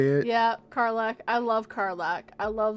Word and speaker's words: Karlach: Yeah, Karlach.